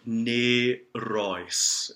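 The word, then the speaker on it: Nänie: okay going back think I might have mispronounced that before nee Royce is how that's pronounced let's go on page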